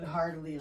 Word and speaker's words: heartily: It just sounds like it sounded like you said hardly, like you're not laughing. Heartily. Like hardly. But yeah, heartily. I'm not saying heart.